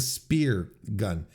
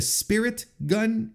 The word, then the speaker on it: Spirit Gun: It always felt like but it's the spirit gun. I think I've been pronouncing it wrong. It's the spirit gun, not the spear gun.